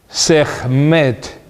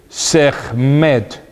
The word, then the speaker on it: Sekhmet: Esta plaga de llagas se llama Sekhmet. Se escribe S-E-K-H-M-E, Sekhmet, que afectó a hombres y animales, matando a